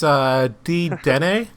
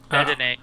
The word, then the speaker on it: Dedenne: It's Dedenne. Is that how? Dedenne, Dedenne or whatever. I'm Right terrible after that. with pronouncing names with like actually not hearing it.